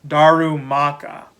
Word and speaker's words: Darumaka: you say it looking at the spelling now darumaka so yeah i did get the tur twig